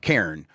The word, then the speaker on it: Cairn: Karen. Yeah, it's one syllable. I think that's the thing to keep in mind that that's throwing people off. Karen. Uh Karen is just like a pile of rocks that people use as